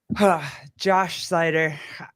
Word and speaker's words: Josh Seiter: This has been like Josh Seiter.